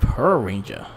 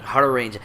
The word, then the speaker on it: Hurricaneger: We have Hurricaneger. But what's the is Naiju Ninja? Naiju Sentai Hurricaneger. Hurricaneger. I can never enunciate the Hurricane. I'm like Hurricane Ranger.